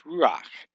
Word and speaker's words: ruach: It's not ruach, it's ruach, one syllable, ruach. It gives that chet a sound right there at the end.